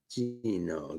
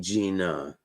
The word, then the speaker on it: Gina: let me see here Gino Gino Gino Gino I mean Gina my bad for mispronouncing your name Gina I'm I'll tell the